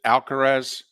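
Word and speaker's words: Alcaraz: and I always get his name is it alcarez okay yeah well I I I mispronounce that name more times than not but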